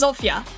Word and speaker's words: Zofia: Just listen how the JP ones pronounce the names. I That's fair, but all right. Noted, noted. Noted. Va had to accent it for some reason. A All right. So So it is Zofia.